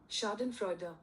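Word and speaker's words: Schadenfreude: second guys I'll I'll just check it uh pronunciation Shaden Freyo oh one Shaden Freder.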